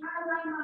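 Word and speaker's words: عَلَّمَ: Membacanya ini harus ditekan. Jadi allama.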